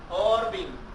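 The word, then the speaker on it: עורבים: Entonces voy a escribirla de la manera como se dice en el hebreo. Orbim, cuervo.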